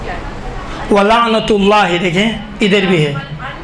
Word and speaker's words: وَلَعْنَةُ: حسین کے بارے میں، تو اس کا صحیح تلفظ کیا ہے؟ وَلَعْنَةُ اللَّهِ، دیکھیں ادھر بھی ہے، وَلَعْنَةُ اللَّهِ عَلَىٰ